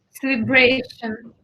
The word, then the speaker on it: celebration: If you have a stress in the if you have a word with a tion, usually the stress goes in the syllable before the tion. Mm-hmm. So intonation, celebration, aviation, generation. Good.